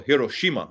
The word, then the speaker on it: Hiroshima: Is it pronounced Hiroshima or Hiroshima? I'd say Hiroshima because it's Japanese.